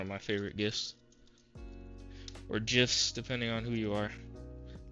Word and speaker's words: GIF: Or GIFs, depending on who you are. I think it's technically pronounced GIFs, but I call them GIFs because it's a G.